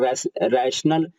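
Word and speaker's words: rational: मतलब होता है विवेक, RATIONL, रैशनल चाहे रेशनल चाहे रशनल, 3 पढ़ते हैं इसको, रैशनल भी, रेशनल भी, रशनल भी, 3 इसका उच्चारण है।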